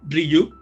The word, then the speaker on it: Ryuk: banda, pero hablamos que este ransomware, que se pronuncia Ryuk, es un ransomware que viene desde el 2018.